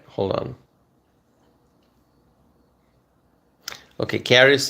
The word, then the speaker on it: Caris: Okay, Caris is saying you pronounced it correctly. I think Paris, but with a C.